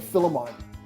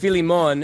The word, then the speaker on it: Filimon: I've been saying Philemon it's all good you never corrected me on that well I mean all that time on Prime Time Well in Romanian it's pronounced Philemon and so like my Philemon is how like